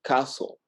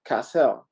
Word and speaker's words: Cassell: and they say Cassell. And actually it's wrong. It's like Cassell, so it's kind of like Cassell. Yeah, no, kind of like French.